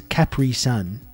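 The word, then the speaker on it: Capri Sun: surprising that that happened I'll never forgive Rob for how he says Capri son that's actually how it's pronounced I contacted the company and they did confirm that that is how it's pronounced so it's unfortunately you who's uh saying it wrong we simply use the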